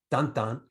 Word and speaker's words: Tintin: Then you had Tantan, right? How it's pronounced, but it's actually spelled Tintin for those who are want to know.